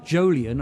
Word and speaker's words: Jolyon: oh because I've got I've got a a jolian I'll spell it for it's j o l y uhhuh